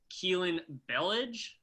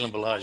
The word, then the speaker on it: Kalen Ballage: Keelan Ballage. Is that how you pronounce it? Kalen Ballage.